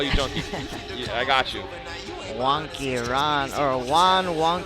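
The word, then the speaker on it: Juanky: fighter meeting today was don't call me junkie this because it's one wonky Rodriguez but the wonky is spelled Ju a and K Y so wonky his name's Juan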